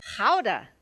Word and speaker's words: Gouda: following our show should know how gouda is pronounced have you been practicing Billy Eric count them in ain't trade three fear howda you know with Gouda I think you said